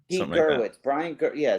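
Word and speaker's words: Gewirtz: Gerwitz.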